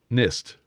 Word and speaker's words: NIST: So Firmian says it's Ni S pronounced like pissed. NIST, of course, but they're not pissed.